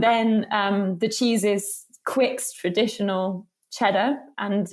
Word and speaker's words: Quicke: yeah um but yeah it's totally just a silent E that um you can imagine it's just not even there and that's how you pronounce it um and then um the cheese is quick traditional cheddar and it's